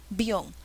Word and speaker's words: avión: la que tiene tilde siempre la sílaba que lleva la tilde es la que suena más por ende es avión al avión ese es